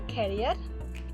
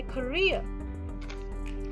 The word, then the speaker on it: career: the a is reduced and pronounced as a schwa sound so don't say i like my carrier instead we will say i like my career so and this word